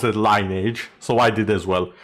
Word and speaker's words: Lineage: Yeah, I also pronounce it as Lion Age. It's because the Romanian pronunciation for the game was basically that. So, everyone pronounced it linage. So, I did as well. I know it's supposed to be lineage or something like that.